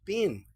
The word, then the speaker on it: pin: P n, se pronuncia pin. Pin. ¿Y por qué? Porque no tiene la E final.